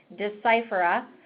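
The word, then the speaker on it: Deciphera: did get it right we do pronounce the name of the company as decipher up something that people do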